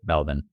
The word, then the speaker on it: Melbourne: is from sopia from Melbourne Australia or I guess Melbourne is how I have to say that I I have a friend from Australia that that taught me the proper way to say Melvin Sophia's question is I